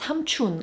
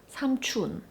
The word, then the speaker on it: 삼촌: But one exception I can think of is the word 삼촌, which means uncle. This word tends to get pronounced as 삼촌 a lot as well. 삼촌, when it should be 삼촌.